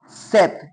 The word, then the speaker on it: sept: Seth here p is silent.